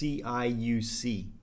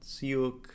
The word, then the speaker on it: Ciuc: It's Ciuc, so I would see it and I'm thinking Ciuc, whatever. And then someone's like, no, it's Ciuc, and so I thought